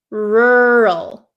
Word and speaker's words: rural: for you okay so this word is pronounced rur rur do you see how my mouth doesn't really open or it doesn't really move around that much okay rural rur rur okay so